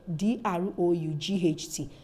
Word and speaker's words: drought: We also have this word D-R-O-U-G-H-T. You see that the HT is also silent in this one. So about, out, drought, out, without, scout.